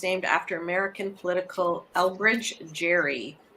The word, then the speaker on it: Gerry: after american political elbridge jerry pronounced with a hard g as if spelled gary jerry i don't know